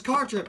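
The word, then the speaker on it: Cartrip: a slob go Daryl the last name is car trip it rhymes with guitar pick we're not really but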